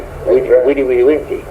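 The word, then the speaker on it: vidi, vici: They pronounced the V with a W. Vide, vice.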